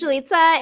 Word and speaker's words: Jalitza: it away hi um my name is jelitsa it rhymes with pizza i've been cosplaying for